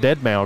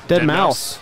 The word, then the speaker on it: deadmau5: new metal band is I thought it was that dead male guy there no wrong dead mouse and mouse deadmau5 II